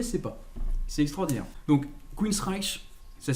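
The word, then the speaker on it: Queensrÿche: pas c'est extraordinaire donc queen streich ça s'écrit wikipedia dit encore une fois on peut prononcer queen's récul et parce que le groupe déjà le prononce comme ça sur youtube sur certaines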